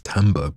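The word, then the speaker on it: timbre: I read this and I see Timber but obviously it's not Timber it's tber because we're talking about sound tber and if you're American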